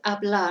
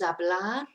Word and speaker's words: hablar: number 1, which is hablar. So hablar is to speak. It's spelt with a H, but we don't pronounce the H.